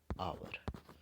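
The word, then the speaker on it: hour: आवर।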